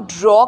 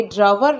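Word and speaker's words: drawer: हैं ब्रेकफास्ट ठीक है फिर इसको ड्राइवर बोलते हैं यह ड्रॉ क्योंकि उसको हम ड्रॉ कर सकते हैं अपनी तरफ उसे शेल्फ को और वापस लगा सकते हैं ये ड्रॉ है ठीक है ये ड्राइवर नहीं है और ये कपबोर्ड नहीं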